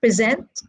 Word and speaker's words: present: you can see that two syllable words are stressed on the second syllable we say present conserve these are two syllable